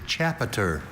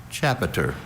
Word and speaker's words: chapiter: Chapiter. Can you please repeat the word? Chapiter. Once again, it hinges on the schwa in that middle syllable. That sound that could be any vowel.